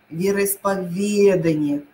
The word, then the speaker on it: вероисповедание: правильно поступить запоминайте заучивайте это снова правильно сказать вероисповедание ведать исповедать вероисповедание запомните пожалуйста договоренность договорённость договоренность